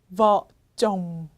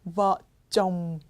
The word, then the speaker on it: vợ chồng: 부부 vợ chồng. 여러분 입을 다물어 주셔야 되는 발음이에요. vợ chồng.